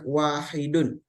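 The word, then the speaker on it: واحد: Arabnya kalau yang bentuk muzakarnya atau laki-lakiakarnya maka bacanya wahidun kalau muanasnya bacanya wahidatun nah perhatikan ada ta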